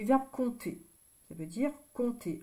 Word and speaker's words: compte: quand on dit qu'on compte sur quelqu'un ça veut dire on fait confiance à quelqu'un donc je compte ici c'est P T e on n'entend pas le P donc je compte on